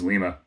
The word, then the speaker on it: Lima: It's Lima. I used to live in Western Ohio near a town spelled Lima, and everybody pronounced it Lima.